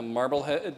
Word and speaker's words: Marblehead: Marblehead, Massachusetts, and Peabody, Massachusetts. Peabody. It's Peabody. They mispronounced the hotel here.